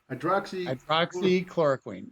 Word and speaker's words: Hydroxychloroquine: Hydroxychloroquine. Hydroxychloroquine.